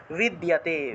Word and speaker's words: বিদ্যতে: ক্ষত্রিয়স্য না বিদ্যতে, দয়ের সাথে জফলা থাকায় দিও উচ্চারণ, বিদ্যতে বিদ্যতে। এই যে বিদ্য যে শব্দটা আছে এটাকে এইভাবে উচ্চারণ করতে হবে, বিদ যুগ ইয়, বিদ্যতে বিদ্যতে, এইভাবে বিদ্যতে, বয়ের উচ্চারণটা ওয়া রূপে, বিদ্যতে।